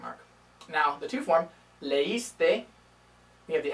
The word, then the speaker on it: leíste: Now, the two form, leíste, we have the accent mark, because without it, it would just be leíste. And leímos, without the accent mark, would be leímos. Okay, so we have those accent marks to keep the extra syllable.